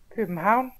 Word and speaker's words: København: And now here's a Dane. Copenhagen.